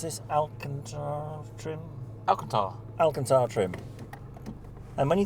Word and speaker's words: Alcantara: And how do you pronounce this? Alcantara trim? Alcantara.